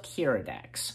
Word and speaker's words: Keeradaks: So, Episode 3, The Wings of Keeradaks.